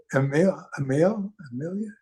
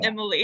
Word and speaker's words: Amelia: Who's that? Amelia? You. It's pronounced Emily.